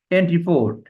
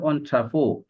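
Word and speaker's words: entrepôt: এন্ট্রি পোর্ট, এটাকে বলা হয় এন্ট্রি পোর্ট, লেখা আছে আসলে এটার উচ্চারণ আছে অন্ট্রাপো।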